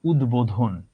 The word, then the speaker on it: উদ্বোধন: উত উপসর্গটা যোগ হলো তোমার বোধন এই শব্দটার আগে, নতুন শব্দ সৃষ্টি করলো উদ্বোধন। উচ্চারণ যেভাবে লিখেছো সেটাই উচ্চারণ।